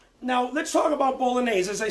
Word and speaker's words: bolognese: The northern version of bolognese, and I just want to say bolognese in Italian is actually said bolognese. We Americans say bolognese, but in Italy it's called bolognese.